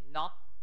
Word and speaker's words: knock: อ ะ ไ ร อี ก K N knock เ ค า ะ ป ร ะ ตู